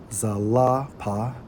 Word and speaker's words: Zilpah: When we research Zilpah, who was identified as a concubine, Strong's H 2153, pronounced as Zalapa, right?